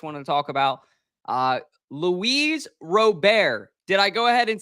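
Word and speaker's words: Luis Robert: is something Chris wanted to talk about uh Louise robar did I go ahead and say it right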